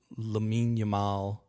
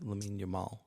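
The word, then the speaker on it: Lamine Yamal: Uh and then I saw something from Laminal. I pronounced that right. Lamin Yamal. Yeah. Yamin Lamal.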